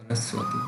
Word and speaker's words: সরস্বতী: প্রথমেই রয়েছে ব ফলার উচ্চারণ ওয়ার মতো হবে, যেমন উদাহরণস্বরূপ সরস্বতী, যার সংস্কৃত উচ্চারণটি হবে সরস্বতী।